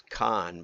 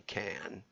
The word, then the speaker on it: Cannes: I thought it was Con, but it's apparently Cannes.